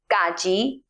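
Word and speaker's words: က: So let's start with consonant number one gaji that is pronounced ga. It sounds something between the English K and the English G like the K sound in category.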